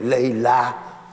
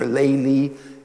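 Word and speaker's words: Layla: to the story of Laila Arabic pronunciation or laylee Eastern Islamic pronunciation and much noon which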